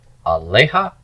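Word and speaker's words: עליה: the ha for her, aleha. Accent is on the lamed, which means this is open and pre-tonic. It's got to be long.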